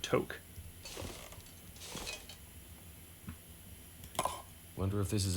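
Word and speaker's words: tuque: don't need another two i did not know that was pronounced took well maybe it isn't maybe it's only pronounced took if you're canadian i speak english so i would pronounce that toke i wonder if this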